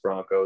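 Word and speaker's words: Branko: uh my middle name's bronco it's spelled b-r-a-n-k-o but it's pronounced bronco it's a serbian name a lot of people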